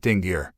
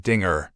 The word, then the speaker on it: Dingir: She pronounced it Dingir, a Mesopotamian name for the Anunnaki that translates as the righteous ones of the blazing rockets. Pronouncing it Dingir, He said it was a bad word because